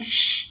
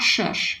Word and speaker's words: Shh: Similar to I don't know how to say the name of Cypress's song, because saying shh is like weird, but it's not shush, because it's just S.